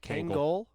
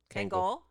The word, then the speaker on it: Kangol: you're correct yeah how do you say it Kangol Kangol uh I'm not sure that's true yeah you're